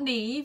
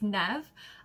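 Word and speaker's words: Neve: got Nev it's not Neeve you don't pronounce the E it's nev um Harding because it's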